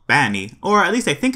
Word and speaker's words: B4NNY: It's spelled B4NNY, and in Elite speak 4 usually is an A, so it would be Banny. But it looks like the word bunny, so I don't know what's up with that.